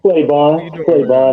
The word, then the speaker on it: Claiborne: Is it Claiborne? I think I said it wrong. Claiborne, that's correct.